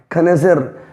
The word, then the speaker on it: connoisseur: लिखा कुछ भी हो, आपको प्रोनाउंस क्या करना है? खनेजर, जिसको हम कहते हैं जौहरी, पारखी, एक्सपर्ट।